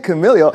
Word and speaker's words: Kamailio: Kamailio.